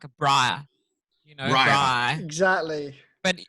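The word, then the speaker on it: braai: She would say something like a bri, Bri.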